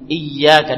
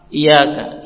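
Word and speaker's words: إياك: nabudu wa iaka Nain Perhatikan ya dalam membacanya iyaka ditekan iaka I tasdid sebagian orang iaka iaka Iya tidak ditekan jadi ianya hanya satu ini rukun ini harus benar tepat membacanya i Tan tasdid itu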